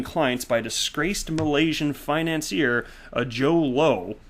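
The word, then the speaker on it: Jho Low: by disgraced Malaysian financier Joe Low. I'm guessing that's how it's pronounced. J-H-O, and then the last name's Low, Joe Low.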